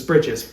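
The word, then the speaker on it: breeches: And bridges is spelled B R E E C H E. It's not breaches, it's brides. Not breaches, it's bridges.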